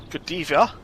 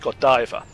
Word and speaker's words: Godiva: and dear to her I called it Godiva. It is actually pronounced Godiva.